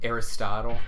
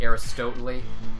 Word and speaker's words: Aristotle: in English class and someone mispronounced like Aristotle it was like Aris totally and one of my